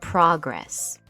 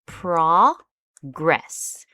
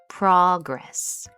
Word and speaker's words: progress: If it is a noun, we pronounce it as pro gress. So, the emphasis is on this first part here, progress, progress.